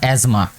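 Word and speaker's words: asthma: Blood pressure, diabetes और एज़मा। ठीक है, इसको एज़मा पढ़ना है, TH जो है वो इसमें साइलेंट आपने पढ़ना है, एज़मा पढ़ें इसको, एक्सेट्रा।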